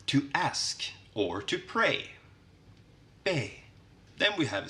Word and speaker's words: B: And then we have B, which is pronounced be in Swedish.